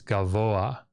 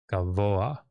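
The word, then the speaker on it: גָּבֹהַּ: You would expect that this pathak here would be pronounced after the hey, because that's how it normally works. But it's not. This is actually, you pronounce the gimel, then the comets, then the vav, then the cholam, then the patach, pathak, then the hey. So it's gavoa, gavoa. It's a furtive patach.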